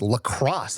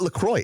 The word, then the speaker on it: LaCroix: It's not even French. It's lacrosse, ho. Huh. It's not LaCroix. It's lacrosse.